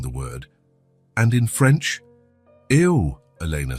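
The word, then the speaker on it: eau: And in French, eo. Elena said, "It looks strange, doesn't it? It's spelled E A U, but pronounced O."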